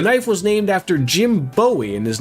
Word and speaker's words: Bowie: There is uh Bowie Maryland, which I personally would think is pronounced like David Bo Bowie, but it's instead instead pronounced buoy like the knife.